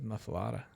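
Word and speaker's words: muffuletta: I get there the muffaletta that would be the mufa mafala are you sure how's it spelled well it's spelled with an e but everybody says mafada okay my bad I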